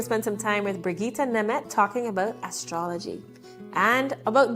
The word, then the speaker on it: Nemet: Nemet.